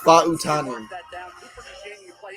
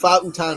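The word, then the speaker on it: Fautanu: Fa'utanu. That's how you say it. Fa'utanu.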